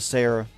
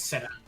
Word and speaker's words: Sera: Toyota Sarah. Or Sarah, I don't know how you say it. it's Serra. Oh, I do like It's Serra. It means will be in Spanish.